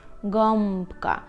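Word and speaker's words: gąbka: тому ми кажемо гомка gompka у цьому слові треба звернути увагу на АЗС хвостиком яке вимовляється як ом і звернути увагу на те що б вимовляємо як п гампка гамка гамка це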